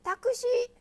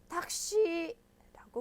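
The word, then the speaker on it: タクシー: 타크시 이러면 이상하죠. 어떻게 불러야 돼요? 탁시라고 불러줘야 됩니다. 그 발음이 약해지는 현상이니까요. 주의하시고요.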